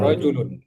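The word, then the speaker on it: رجل: Hza rjulun junnya pendek pendek rojul rajulun rjulun laki-laki ahadza waladun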